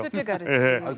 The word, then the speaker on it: 슈투트가르트: 첫 번째는 독일에 있는 슈투트가르트라는 발음이 되게 어려운데요. 슈투트가르트.